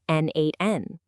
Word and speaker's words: n8n: So what exactly is n8n? First off, it's pronounced N8, and at its core, it's a tool for workflow automation.